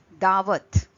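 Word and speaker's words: दावत: When we speak of Hindi, the Hindi word could be dawat. Dawat is feast. Dawat, that starts with the.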